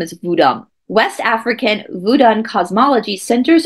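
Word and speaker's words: Vodun: legitimate or complex and vodam is actually the correct way to say Voodoo I will say Voodoo because that's what most people know it as that's what Hollywood created it to be but the the proper term is vodam West African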